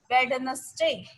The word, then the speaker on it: Wednesday: You'll have to D के स्थान पे आपको Z की साउंड लानी है.